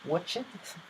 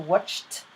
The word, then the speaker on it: watched: looked clapped missed watched I hear so many times watch it so watched finished and laughed so when